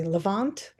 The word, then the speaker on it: Levant: How do you pronounce it, Emily? Leavant. Yes. Yeah. We're all from the Levant, which is not a very big area, and it's what you would call Israel today.